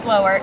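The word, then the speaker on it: Slowre: brand is really unique the name is actually spelled SL o w r e even though it's pronounced slower tell me the logic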